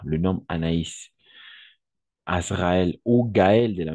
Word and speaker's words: Anaïs: Gargamel le sorcier Gargamel on peut constater qu'il y a le du point c'est à dire en français on le dit le tréma d'accord le trément le par exemple comme Anaïs par exemple Anaïs Anaïs d'accord le nombre Anaïs Azraël